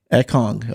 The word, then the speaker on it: Ekong: How do you pronounce his last name? Ekong.